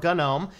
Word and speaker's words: GNOME: So this is the GNOME desktop, or GNOME. GNOME or GNOME, either one is an acceptable pronunciation according to the Foundation.